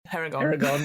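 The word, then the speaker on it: Harengon: Herringon, that's it, that's how you pronounce it.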